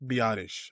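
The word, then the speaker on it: Biadasz: So, we got the the first signing was Tyler Biottish.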